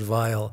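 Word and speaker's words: Weil: it or not was vile w-e-i-l pronounced vile in german and he said he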